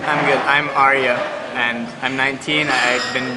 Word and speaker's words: Arya: spell your first name a r y a a r y a and it's pronounced Arya AR like from that girl in Game of Thrones okay I'll I accept